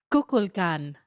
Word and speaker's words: Kukulkan: Because they worshipped a snake god called Kukulkan. Kukulkan. You know what? How do you spell it? K-U. K-U-L. K-A-N. Wow. Okay, how would you say that? Kukulkan.